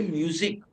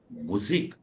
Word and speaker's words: Musik: We don't say music. We say Musik. Why? Because U is pronounced as U in German language. There is no umlaut. Had there been umlaut, we would have said music. But there is no umlaut. So we always pronounce the way it is written. It is written as Musik. So we say Musik hören.